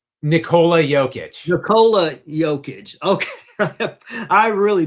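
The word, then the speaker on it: Nikola Jokić: and introduced me to the absolute stud himself, Nicolo Joic. Wait, I did I butcher his name? How do you pronounce his first name? Nicola Jokic.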